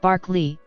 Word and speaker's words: Berkeley: The philosopher's name is pronounced Barclay, but the city's name, to accommodate American English, is pronounced Berkeley.